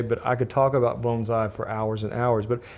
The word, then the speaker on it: bonsai: of them die now Americans tend to say Bonsai and my have some Japanese friends and my wife is actually Japanese and she's often corrected me and told me the proper way to say Bonsai which is the way I started out saying is bonai but I'm going to